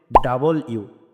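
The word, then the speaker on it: W: দেখতে পারছি ডাব্লিউ রয়েছে আমরা ডাব্লিউ উচ্চারণ করি এটার সঠিক উচ্চারণ ডাব্লিউ হবে না এটার সঠিক উচ্চারণ হবে ডাবল ইউ ডাবল ইউ আশা করি আপনারা বুঝতে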